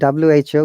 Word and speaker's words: who: But in case of WHO, you have to say who, whom, whomever, whoever.